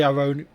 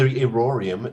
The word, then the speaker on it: Irorium: I'm tempted to say Ironium. It's the Irorium, named after the god Irori.